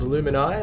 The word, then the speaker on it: Luminae: a retreat guest called luminais or luminae depending on your pronunciation we're going to go